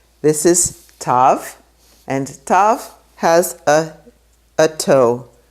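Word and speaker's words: תו: Tav has a toe, so it makes the sound t. Tav sometimes has a dot in it and sometimes it doesn't. And that goes back to an ancient pronunciation that sometimes tav would have a different pronunciation. But today we just say t. Tav, like in Shabbat. So those are all the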